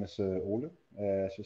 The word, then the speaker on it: Ole: My name is Ole, as you said, Olesen-Bagneux, my full name.